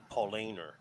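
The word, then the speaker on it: Paulaner: this one Paul laner it's like so Paul Aynor a-n-e-r polainer german yes and then the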